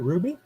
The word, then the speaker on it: RWBY: warlords and a ruby i guess you pronounce that ruby rwby based on the